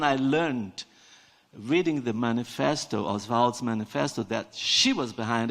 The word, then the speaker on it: Oswald: Oswald to write this I'm I'm pronouncing Oswald because that's the way he pronounced the way his friends pronounced his family pronounced the name was taken from a French thing it's most people in Brazil now say all what our fault you know which is they would hate because they pronounced us vault and he sometimes Santos